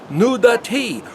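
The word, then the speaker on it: נודעתי: But the word did I not reveal myself is the word pronounced nudati, or that he exposed so that Abraham could see who he really was.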